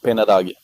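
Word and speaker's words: Penha d'Águia: Peña d'Agua. Ah, c'est mieux prononcé, bien évidemment, de ta part.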